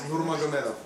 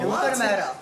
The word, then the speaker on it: Nurmagomedov: Nurmagomedov. Nurmagomedov? Yeah. That's cool. Nurmagomedov.